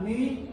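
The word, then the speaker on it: μ: No hago cómo se escribe el símbolo, pero esto es la Mi y la que sigue la Mi. Así es como se debería pronunciar. Todo el mundo le dice Mu como la vaca y Nu.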